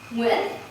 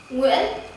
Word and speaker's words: Nguyễn: Believe it or not, I have seen so many people struggling to pronounce one of the most common surnames in Vietnam correctly. Nguyễn. Come on, try it. Nguyễn. Again, Nguyễn.